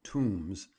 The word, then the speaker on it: Tomes: The Tomes family, who pronounce their name Tombs, and have many kinsfolk